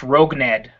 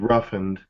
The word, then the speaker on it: Rougned: I got the last name, but I think it's pronounced Rougned Odor. Because I was always going with Roughened, even though it doesn't have an H.